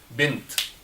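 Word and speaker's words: بنت: A girl, bint. Bint. B, ba, and then noon, and then ta. Bint. So it is always pronounced ta in this word.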